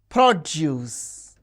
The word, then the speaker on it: produce: We can see the stress is on the first syllable when the word is used as noun or adjective, and the stress is on the second syllable when the word functions as a verb.